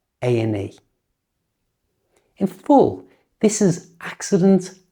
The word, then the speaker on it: A&E: A&E. Listen to how I pronounce that. A&E. Just like before, I've changed the and to a simple n sound. A&E.